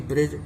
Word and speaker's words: bridge: जैसे कि ब्रिज, BRIDGE, ब्रिज, ब्रिज माने पुल, तो इस तरह से इसमें भी डी साइलेंस वर्ड है।